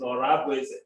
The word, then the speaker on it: Orabeze: And the person that brought us here, Professor Orabeze, the correct pronunciation is Orabeze.